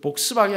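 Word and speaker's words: Volkswagen: 독일 자동차 가운데 그 복스바겐 아시죠? 복스바겐 앞에는 V고 바겐은 W예요.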